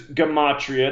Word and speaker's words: gematria: So the subject is gematria. That's the proper way to say the word. People who follow me hear me say it. That's what I said. Gematria all the time because that's the way I learned it before I was corrected.